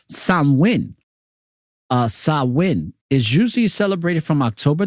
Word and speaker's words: Samhain: Sam Hing a guy a Gaelic word pronounced Sam win is usually celebrated from